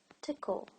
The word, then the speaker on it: tickle: just the pronounced I there is a hidden vowel sound between the K and the L and it's kinda you or schwa it's it's usually Cultra